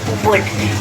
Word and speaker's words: would: उत के उच्चारण से व ओ यू एल दी L silent रहेगा उच्चारण करते वक्त और ये होगा उच्चारण वुड ये विल शब्द का